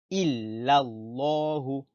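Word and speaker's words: إلا الله: Et comme il y a le nom d'Allah et un A avant le nom d'Allah, on dit la bouche pleine. On dit Allahu, Allah, Allahu, illallahu. On ne dit pas la bouche vide.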